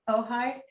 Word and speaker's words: Ojai: pronounce it oh yeah it's a tricky one o j a i it's too much indian oh hi so my husband and